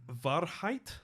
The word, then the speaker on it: Wahrheit: It's V instead of W. Yep. So Wahrheit Yep.